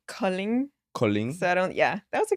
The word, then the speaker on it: Kolding: It's a place called Kolding. Kolding? So that was a good. Kolding? Yeah, Okay, good pronunciation.